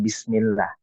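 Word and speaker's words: بسم الله: Jadi bacanya jangan bismillah, bismillah, tapi bismillah ya. Coba ulangi Kang Ari. Bismillah, dialirkan saja.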